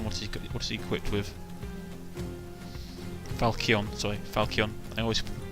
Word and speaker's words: falchion: Falchion. Sorry, Falchion. I always pronounce it wrong. Falchion.